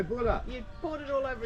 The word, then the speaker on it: Bula: How do you say cheers in Fiji? Cheers. You don't say cheers. You say Bula.